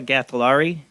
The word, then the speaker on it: Gatollari: i'm just probably totally butchering your name mustafa ghatilari you're you're out actually pronouncing it like the correct way i like